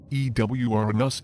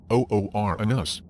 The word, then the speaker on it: Uranus: language if it's pronounced Uranus it provokes laughter from sick graters the alternate pronunciation ewr in us is not much better perhaps we should go back to the original Greek pronunciation oor in us